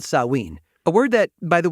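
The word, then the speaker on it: Samhain: ancient Celtic Festival called saween a word that by the way is often pronounced Sam ha because of the way it's spelled but you're getting it straight from the source here they believe that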